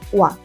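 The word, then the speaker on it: は: Partícula wa a gente escreve com ra e pronuncia wa.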